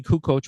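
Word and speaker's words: Toni Kukoč: But uh and you know I said Tony Cuck coach was Tony Cuckoo for about six years.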